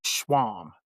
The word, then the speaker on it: Schwam: all to Miss Bonnie Schwam. Miss Bonnie, how you doing today, man? Yeah. You proudly pronounced it right. Correct.